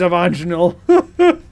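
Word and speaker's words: Avanchnzel: It's It's Avanchel. Exactly. I just Fair enough. You got me there. It is Avanchel.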